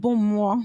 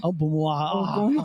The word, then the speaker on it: Ogbummuo: Ogbummuo. Ogbummuo. Obum.